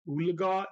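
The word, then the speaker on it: Oologah: Claremore yeah sweet as far as I'm aware ulaga is pronounce how it's spelled which is o o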